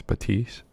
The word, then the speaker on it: Baptiste: Baptiste is how I think. It's what I'm hearing how people pronounce it. Obviously, you're gonna hear people say Baptiste, but I think it's Baptiste.